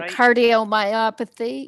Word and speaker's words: cardiomyopathy: to tell the lady uh if i can pronounce it right cardiomyosplay do you have yeah cardiomyopathy yeah yeah yeah thank you yeah her her